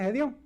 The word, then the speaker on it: Gedeón: Después tenemos a Gedeón. Oh, se dice Gedeón. ¿Cómo se dice? Gedeón. Gedeón. Gedeón.